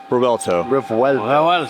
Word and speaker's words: Revuelto: Revuelto. I'll never get that. Revuelto. You got it. It's It's the V is pronounced as if you're sounding out a W. Revuelto.